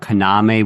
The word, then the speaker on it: Kaname: I'm just noticing that you're pronouncing his name Kaname, which I believe is the correct way. I believe it was accent on the second syllable, but I had forgotten it.